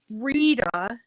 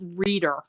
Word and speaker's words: Rita: is um is that Rita Rita was often pronounced as reader with an r on the end and I have a